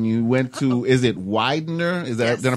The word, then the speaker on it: Widener: Funny thing, did a little research on you, went to, is it Widener? Is that, did I pronounce it right?